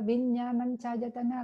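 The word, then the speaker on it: Viññāṇañcāyatana: Không, tên của nó phải đọc là Vinyananchayatana, là tầng thiền thứ hai của vô sắc là thức vô biên xứ.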